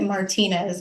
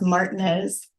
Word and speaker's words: Martinez: I I remember I I read it Martinez, but it's pronounced Martinez, Georgia.